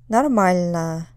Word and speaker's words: нормально: Нормально. Нормально. Second syllable. Obviously, this is related to the English word normal, but whereas normal is stressed on the first syllable, нормально. And this will happen pretty often with Russian words that are like English words. They'll be stressed in a different place.